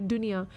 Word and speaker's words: dunia: uh world doesn't it Dunya in Malay we have the we spell it differently d-u-n-i-a Dunya which means World it means